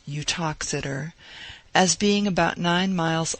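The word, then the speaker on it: Uttoxeter: speaks of the town its name is pronounced eutoxider as being about nine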